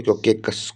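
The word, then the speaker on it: Caucasus: इतना इसकी प्रोनाउंसिएशन हो गई। कोकेकस कोकेकस कोकेकस कोकेकस कोकेकस।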